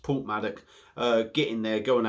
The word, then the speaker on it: Porthmadog: It's spelt Porthmadog, but it's actually pronounced Porthmadog.